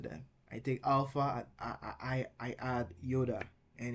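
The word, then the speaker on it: ει: I take alpha, I add iota, and it becomes the first diphthong here, I. Epsilon, I add iota to it, A. I as in isle, A as in gray.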